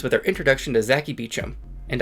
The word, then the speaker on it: Beauchamp: her introduction to Zaki Beacham and I know I'm actually pronouncing that right this time because Stein was kind enough to include a pronunciation guide Zaki is kind of